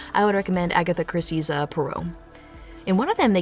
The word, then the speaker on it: Poirot: been watching the first season of Agatha Christie's Poirot Poirot you think I know how to say it Poirot and I found out he is not in